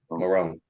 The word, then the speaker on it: Morrone: Morrone.